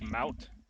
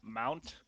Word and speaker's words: MOUT: One, it's MOUT, not Mount. A lot of people mispronounce it and say MOUT. Mount, and it bothers the fuck out of me.